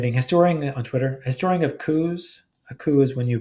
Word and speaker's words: coup: But we have one historian on Twitter, historian of coups. A coup is when you violently overthrow the government. You don't pronounce the P.